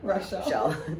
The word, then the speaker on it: Rachelle: Just so people pronounce my name right. Yeah. Rachelle.